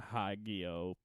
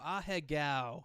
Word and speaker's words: Ahegao: long as it's not like a Hagio fucking hoodie or however you know how to pronounce it. Yu-Gi-Oh? No, Is that what you're trying to say? the anime chicks making the face. Oh, Ahegao. Yeah.